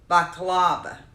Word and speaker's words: baklava: Oh, it's pronounced baklava. Is that how, Selena, am I saying it right? Where's the word? Baklava. Is how it's pronounced.